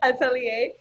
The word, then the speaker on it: atelier: um last year you dropped i'm probably pronouncing atelier no you are that's right okay atelier which is i love the the project cover